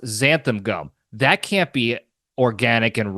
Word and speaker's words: xanthan gum: It's also spelled with an X, and it's pronounced xanthan gum.